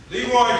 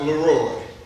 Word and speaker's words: Leroy: Leroy to the stand. That's Leroy. The accents on the last syllable, the O is almost silent.